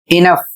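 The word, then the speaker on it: enough: अगला शब्द है ई एन ओ यू जी एच इनफ और इसे पढ़ा जाता है पर्याप्त। जी एच साइलेंट भी होता है।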